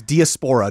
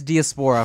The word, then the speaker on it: diaspora: I have trouble finding the correct emphasis on which syllable to put. It's diaspora, dude. I thought it was diaspora for the longest time, but then that's a shoe brand, I think.